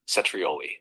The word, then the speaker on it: cetrioli: Cetrioli. The CE sounds like ch and the stress is on the first trioli. Want to try saying it back to me? Cetri, that was great. Cetrioli sounds spot on.